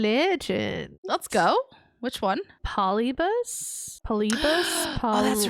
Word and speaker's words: Polybius: It'd be like Polybius or Polybus. But they say Polybius. Polybius. That's how they say it.